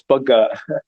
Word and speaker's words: Bagga: you so much static I love that he pronounce my last name correctly it's bug thank you alright so